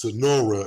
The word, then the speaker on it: Sunaura: have a special guest on her name is Sonora and I hope that I'm saying that right